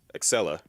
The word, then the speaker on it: Excella: How do you say her name? Because I'm thinking of Alexia from Code Veronica. Excella, that's her name, Excella.